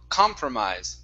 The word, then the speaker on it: compromise: parts here first up instead of compromise it's an ah sound car compromise compromise compromise okay very good next